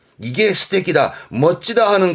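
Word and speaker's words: 素敵: 적 발음은 테키. 그래서 이게 스테키입니다. 이게 스테키다, 멋지다 하는 그 스테키다가 이 한자입니다.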